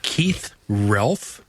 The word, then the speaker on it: Keith Relf: Keith Relf? Is that how you pronounce his name? Yeah.